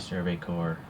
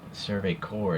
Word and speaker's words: Survey Corps: a tempo of the survey core corpse logo I guess it's pronounced survey core is how I pronounce it but it's it's spelled